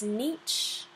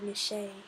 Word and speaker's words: niche: And then its niche, or niche, however you want to pronounce it, is its job and its function within its community and role.